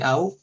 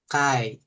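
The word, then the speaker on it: 会: kanji antara kanji aimas kanji au atau kanji nanti bisa jadi kai kaisya cara bacanya ada dua dia oke udah ditulis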